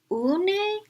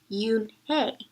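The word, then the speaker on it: Unhei: "Une?" the girl asked, scrunching up her face. "Oh, Une," some kids chanted. "Oh, no," Yoon-hae corrected. "It's spelled U-N-H-E-I. It's pronounced Yoon-hae."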